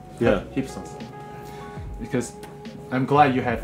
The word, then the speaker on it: Hypsos: want to do it now about how to pronounce hip sauce yeah hip sauce because I'm glad you have a dual outputs